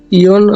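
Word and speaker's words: 四: এরপর ইয়ন। ইয়ন 4 এর উচ্চারণ 2 ভাবে হয়, ইয়ন অথবা শি।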